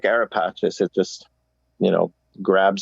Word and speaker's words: AraPacis: to pronounce it uh arapakis or arapassas meaning you're just like aeropatches it just you know grabs you it's got a flow to it well it's the italian pronunciation so if you go